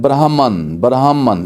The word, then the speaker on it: Brahman: ہے، نہیں، یہ امریکہ کی ہے۔ اس کے سپیلنگ جو ہیں وہ ہیں BRAHMAN، تو یہ اگر دیکھیں تو یہ بنتا ہے برہمن، اس طرح کا لفظ بنتا ہے، ریڈ برہمن